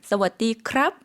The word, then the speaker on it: สวัสดีครับ: 사와디카, 사와디크랍 이라고 해주셨습니다. 저희 다시 한번 들어볼게요. 조금 천천히 발음해 주시겠어요?